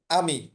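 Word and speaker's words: ami: দেখেন, আমি, এ এম আই, উচ্চারণটা দেখেন, এর ওই যে শুরুতে বলছিলাম এর ক্ষেত্রে হচ্ছে আ, এম আই এর উচ্চারণ হচ্ছে মি, আয়ের উচ্চারণটা আমরা রস্যি বা দীর্ঘ যেটাই নেন আমি বলছিলাম।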